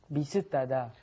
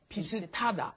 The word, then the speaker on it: 비슷하다: Notice the pronunciation might seem a little strange. 비슷 ends in a shit, an S right. sound, right? But then it comes up against the hit in hada, and then it becomes ta, pisitada.